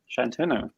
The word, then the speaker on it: Shantanu: cool congratulations to uh shantuno i pronounced that right well done yeah perfect first first recipient of